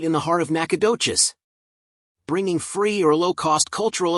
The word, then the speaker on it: Nacogdoches: It is pronounced Nacogdoches.